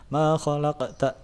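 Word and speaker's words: مَا خَلَقْتَ: sukun di tengah-tengah kalimat maka dibacanya Qolqolah Sugro makhalqta gitu enggak terlalu tebal Ininya pantulannya makholaq kok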